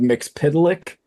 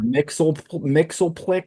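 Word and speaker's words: Mxyzptlk: Yeah, I've heard Mixpidlick. There he I've is. heard Mixelplix. I I've heard a think bunch- I always said Mixelplick, but then I heard so many other things that I find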